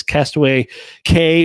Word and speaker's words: Castaway Cay: And let's not forget one very special place with Disney Cruise Line, and that is this Castaway Cay, or Key, depending on how you may pronounce it.